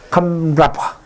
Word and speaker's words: kamrapa: Plural, kamrapa. Kamrapa. Ko, singular. Kam, plural.